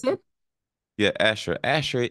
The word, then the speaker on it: Asher: pronounce it? Yeah, Asher.